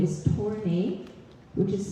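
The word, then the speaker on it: Tornai: My last name is Tornay, which is spelled T-O-R-N-A-I.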